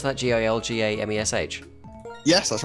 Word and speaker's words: Gilgamesh: Wait, but, I how'd you mean, pronounce that? Gilgamesh?